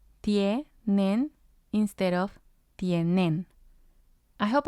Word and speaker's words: tienen: And then we have tienen, tienen, which means they have. And again, we have nen and tie. Nen is the first syllable, tie is the second syllable.